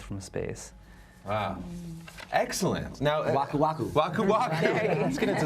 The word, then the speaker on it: Waku Waku: Okay, I'm part of the Waku Waku, and you guys say right.